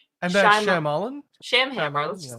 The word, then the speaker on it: Shyamalan: Night, I always say his name wrong. And that's Shyamalan?